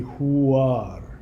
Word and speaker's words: Huar: hear in the background the Huar mantra, H-U-A-R. It's made up of 2 syllables. Hu is a grounding sound, but it's also an astral weapon that destroys negativity. And the second syllable, ar, A-R, that is a syllable of solar creation.